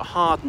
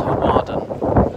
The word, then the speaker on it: Hawarden: So he had a house at Harden in Wales. I know it's pronounced Hawarden. So I sort of spelled Hawarden, but called that off